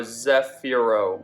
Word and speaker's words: Zefiro: name the entire video it's spelt z-e-f-i-r-o so zephyro i think i was saying 0-5